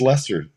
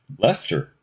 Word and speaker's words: Leicester: So this is the British pronunciation of this word.